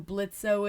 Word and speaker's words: Blitzo: Just in case you don't know who Blitzo is, or Blitz, because the O is silent, and you don't know Helluva Boss, but you're like, ooh, this is a really cool figure.